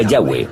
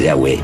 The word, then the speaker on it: Yahweh: Pensamos que probablemente se pronunciaba Yahweh o algo así, pero Yahweh solo aparece en la Biblia hebrea.